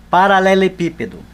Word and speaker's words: paralelepípedo: Veja que a sílaba tônica não é a última nem a penúltima, é a antepenúltima.